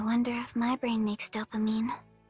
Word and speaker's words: dopamine: I can't pronounce it. She capped on her screen. Dolphine. Dopamine.